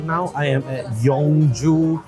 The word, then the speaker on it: Yeong Joo: now I am at yongju Cafe it's not mistaken that is how you pronounce the name trying out their sarawaksa